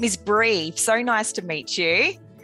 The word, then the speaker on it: Bree: My name is Bree. So nice to meet you. Hi, Bree. What a pretty name. Oh, thank you. It's kind of like cheese, but it's not spelled the same as the brie cheese.